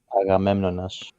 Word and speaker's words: Agamemnon: It's gonna be Agamemnon? yeah. How do you say in Agamemnon, Greek? Agamemnon? Or Agamemnonas. Agamemnonas.